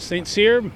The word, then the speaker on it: St. Cyr: our tour guide and uh make sure I'm pronouncing it right Saint Seer Saint seers yes that's correct and what's your official Title